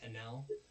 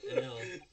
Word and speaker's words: Enel: Enel. Um, Yeah. As long as you don't accidentally say put an A instead of E. Oh, that's true. Enel.